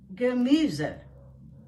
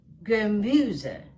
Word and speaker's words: Gemüse: Das Gemüse. Das Gemüse. There are 3 syllables in this word, and the stress is on the second syllable.